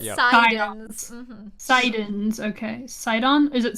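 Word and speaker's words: Psidon: Well, it's a joke on Poseidon because the P is silent in the Greek Psi because it would technically be PSI.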